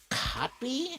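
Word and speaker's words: Kotb: to Savannah Guthrie and Hoda copy I think is how her name is pronounced oh the copy great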